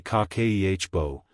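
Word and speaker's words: 家計簿: Kibbo pronounced roughly kakehbo is a Japanese household accounting practice built around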